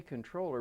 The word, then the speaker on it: comptroller: legislature okay and and we say controller but it's spelled comptroller yeah why is that I